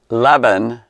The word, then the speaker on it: leaven: Take heed, like, beware of the leaven of the Pharisees and Herod. What? It says, beware of the leaven of the Pharisees and of the leaven of heaven. Herod, leaven of heaven, it rhymes. Leaven.